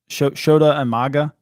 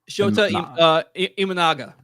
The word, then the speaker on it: Shota Imanaga: Shota Umaga? Shota Imanaga.